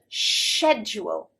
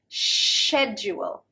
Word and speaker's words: schedule: schedule with a and schedule schedule with a sh sound the difference in pronunciation neither is actually wrong